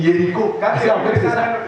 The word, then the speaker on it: Jéricho: Et Jéricho, et j'aime bien la prononciation serrée ici, on dit Jéricho.